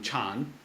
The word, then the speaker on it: Chan: uh and so Jonna going to China became Chan and that's actually how it's pronounced now in Han China but uh probably